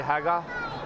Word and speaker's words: Hagar: You actually, it's pronounced a little differently. You actually wouldn't pronounce the last R, so it'd be Hagar.